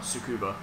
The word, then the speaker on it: Tsukuba: here but i think the idea of japanese language is you don't place any emphasis on any of the syllables yes it's Superman so about tsukuba or yeah but then you're British so you pronouncing the british way exactly or you'd be